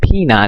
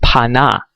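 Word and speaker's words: פנה: Remember, I told you the ancient Shemitic word, okay, in our language, okay, is not Pina, it's pronounced Pana, That's why they have pana.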